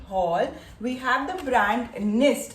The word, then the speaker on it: Gnist: We have the brand Nist. It is Gnist, but pronounced as Nist.